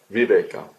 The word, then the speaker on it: viveka: distinction, à ce discernement, 'viveka'. Cela se prononce 'vivek'.